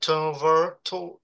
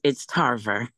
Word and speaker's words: Tarver: Ask the person that is, how is it, Trevor? I can't pronounce it very well. Trevor. Yeah, Trevor. It's the name Trevor. Yeah. Good evening. It's Tarver. Yeah, Tarver, okay.